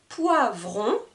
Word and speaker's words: poivron: à entendre la différence je vais essayer de prononcer correctement un poivron un poireau 1 poivron 1 poireau petite remarque le mot